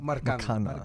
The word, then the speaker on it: Marcano: Is it Marqueno or Marcano. Marcano. Marcano.